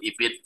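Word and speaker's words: Ibn: Bacanya IPNU Ibin ya.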